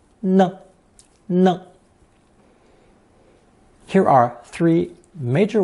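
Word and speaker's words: 呢: radical with knee phonetic originally pronounced second tone knee it meant constant murmuring in conversation however it functions as a very useful sentence particle pronounced with a neutral tone no no here are three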